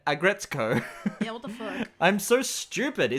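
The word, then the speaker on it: Aggretsuko: it's just a gretzko I've been saying it wrong the entire time I kept calling it agrezuko and calling her retsuko but it's retsuko and aggretsko yeah what the [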